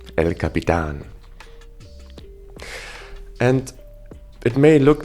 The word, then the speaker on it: El Capitan: And there's no other way of pronouncing it than El Capitan.